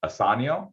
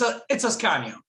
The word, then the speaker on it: Ascanio: All right, Asanio, is that how you pronounce it? It's Ascanio. It's Ascanio, but it's good.